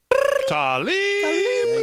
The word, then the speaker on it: Tlaib: Tlaib.